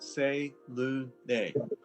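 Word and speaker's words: Selûne: Well, it says here it's pronounced Say-Lu-Ne. They've got it spelled out that way. Your phone's dead. Selene.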